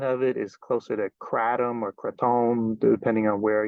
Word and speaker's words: kratom: things however we want but the the actual pronunciation is more like crom um I may use both pronunciations but just